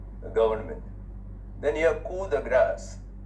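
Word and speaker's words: coup de grâce: government then you have cool the grass c o u p d e g r a c the grass notice that the p is silent in both these words the grass the final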